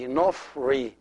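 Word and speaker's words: ⲛⲟϥⲣⲓ: So the second syllable is Ri. So the first one is Nof, the second one is Ri. Together will be Nofri, Nofri, Nofri.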